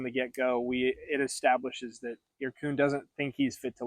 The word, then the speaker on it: Yyrkoon: And then he has a cousin named Irkun, spelled really cool. It's like, I think it's spelled Yyyrkr, no, Yyyrkoon. So it looks like Yayakern or something like that, but it's Irkun.